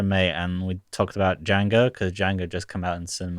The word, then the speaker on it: Django: what she ain't say Django thinks about a DJ a and geo and it says the D is silent and the guy says